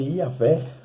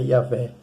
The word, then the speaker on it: Iavé: por várias vezes, e no hebraico se escreve Iavé, né, é um tetragrama, uma palavra, né, apenas com consoantes, é o YH, o W e o H, sem nenhuma vogal, é Iavé, né?